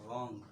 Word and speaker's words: wrong: आर के पहले डब्ल्यू आता है तो डब्ल्यू को नहीं पढ़ाया था, जैसा राइट हो गया रॉन्ग, WRONG होता है बच्चे।